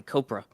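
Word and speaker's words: Kopra: Like Cobra Kai Copra.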